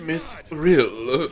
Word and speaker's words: Mythril: your language and it's like no it's actually pronounced myth real yeah real sounds super gay yeah I'm trying